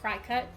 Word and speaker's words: Cricut: my mom has a cricket machine and I think it's actually legitimately pronounced cry cut but I'm that that's